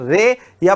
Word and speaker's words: Ray: राय देखो, राय की स्पेलिंग होती है RAY और यही स्पेलिंग रे की होती है, तो कुछ जगह इनको रे लिखा गया है। ठीक है, वास्तविक रूप में राय है।